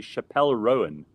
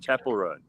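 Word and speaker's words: Chappell Roan: and say to me Chappelle Rowan I'm like that's not how you say it I don't I don't know but I know that's not how you say it Chapel rone yeah she has a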